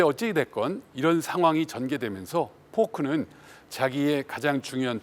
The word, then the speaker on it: Foulk: 자, 이 포크라는 사람에 대해서는 이제 계속 더 설명을 드리겠습니다만, 이 사람이 이름은 조지 크레이튼 포크인데 FOULK니까 이걸 영어식 발음으로 하면 폴크, 뭐 약간 여러 가지 표현이 있을 수 있는데요.